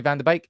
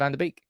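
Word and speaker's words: Van de Beek: form just disappeared um one tip you should say vaner bake instead of vaner beak bake is how you say beak bake be be bake bake vaner bake how about Donnie I'll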